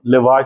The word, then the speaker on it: lavage: Then is a oral colonic लेवाज solution, इसको लेवेज भी बोलते हैं, मैं लेवाज बोलता हूं इसको, अमेरिकन शायद प्रोनाउंसिएशन लेवाज है।